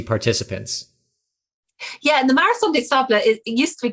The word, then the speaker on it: des Sables: I mean, the marathon des Sables, is that how you pronounce that? Des Sables. Sable. All right, so the S's French are silent. for sand. That's like Des Moines in Iowa.